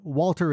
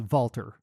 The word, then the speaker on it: Walter: Also, Walter is Valter.